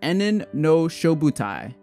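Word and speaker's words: 炎炎ノ消防隊: Okay guys, so I just finished watching episodes 1 and 2 of Fire Force, or Enen no Shouboutai, which is how it's said in Japanese.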